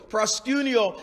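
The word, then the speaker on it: προσκυνέω: love these words the first one is prosciutio prosciunio proscinio is spelt p r p-r-o-s-k-u-n-e-o and proscinio is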